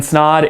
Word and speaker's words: Snod: guys my name is snod it rhymes with odd and welcome to another